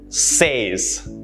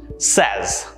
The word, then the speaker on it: says: speak and to sound fluent this is often mispronounced as says says this is incorrect stop doing that it should instead be pronounced says simon says that it's going to rain tomorrow